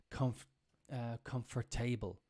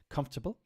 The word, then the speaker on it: comfortable: the main thing is not to say table it's very normal to say Comfort comfort table it's quite common but it's tabul it's a bull this requires a lot of practice you need to do this on your own it requires a lot of practice but it sounds uh lazy for English people's people to say comfortable but uh the sound is correct but saying comfort table